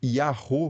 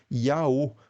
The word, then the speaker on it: Yahô: de representar, por exemplo, o som de ro, né, do Yahô, por exemplo. Então o grego escreveria Yaô, porque ele não tem como representar esse som meio de R aí do Yahô, usando a escrita grega.